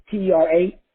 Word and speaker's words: teratoma: T-E-R-A, tera, T-O-M-A.